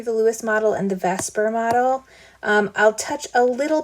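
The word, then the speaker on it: VSEPR: the lewis model the vesper model it's spelled v-s-e-p-r but it's pronounced vesper by chemists um the valence bond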